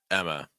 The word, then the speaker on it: Emma: is Emma Emma okay so notice that we're not really making that M sound too strong just Emma Emma Emma schw sound again uh at the end it's not ah it's not Emma a it's Emma Emma that takes us through